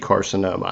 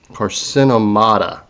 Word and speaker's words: carcinomata: It's not actually carcinoma. I know how to pronounce that. It's an old way of, another old term, and it's carcinomata. There we go, carcinomata.